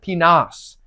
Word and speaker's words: Pinas: We have Damian Pinas. Yes, Pinas is how you say that.